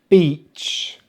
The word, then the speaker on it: beach: Finally, my favourite, beach, beach. Be careful with this word, because if you use the short vowel sound, which is very similar, but notice my lips are relaxed, I, I.